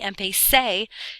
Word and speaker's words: empecé: So yes, empezar is going to have an irregular yo because you can't ze in Spanish. So it's going to be empecé, ce at the end, still with an accent on the e.